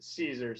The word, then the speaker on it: Siser: first lesson always is how to properly pronounce Siser. So the S-I-S-E-R, these rolls you see in your Michael's stores or Michael's online website, that is pronounced Siser.